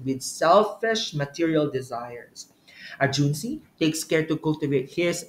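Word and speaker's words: 君子: be what Juni okay Juni ju n zi Juni speaks to a moral person profound person Superior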